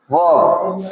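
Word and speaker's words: verb: वर्ब नहीं वर्ब। आर इसमें silent होता है।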